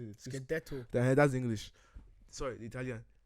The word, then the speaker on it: scudetto: Scudetto.